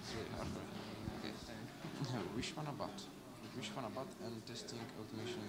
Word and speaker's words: Vishwanath Bhat: Actually, what's the pronunciation of your name? Yeah, it's MS Vishwanath Bhat.